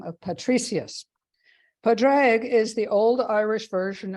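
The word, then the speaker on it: Pádraig: Padraig is the old Irish version of this name, and I'm probably mispronouncing it.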